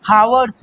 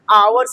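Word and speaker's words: hours: After a फ्यू हावर्स। क्या लिखा हुआ है? आवर्स लिखा है। हावर्स नहीं लिखा है।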